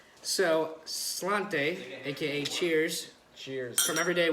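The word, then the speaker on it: Sláinte: yeah but uh is the Irish say and we're probably gonna say this very wrong it's spell it's spelled his head spell it's spelled sl8 int II but we'll back at the end on the e so Slainte aka cheers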